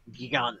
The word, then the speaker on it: Gigant Edge: I hate to be that guy, Brian, but Gigant Edge? Well, how is it actually pronounced? Gigant. I pronounce it Gigant. Because Giga.